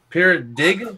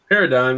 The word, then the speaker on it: paradigm: really matter juice this para para dig minimum what's called paradigm paradigm there we go but should probably put